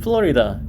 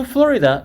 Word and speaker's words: Florida: Come to the beaches of Florida. 이거 발음 조심하셔야 돼요. 짧게 발음하면 안 돼요.